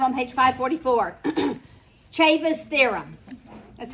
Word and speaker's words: Ceva: Ceva's Theorem. That's how you pronounce that, Ceva.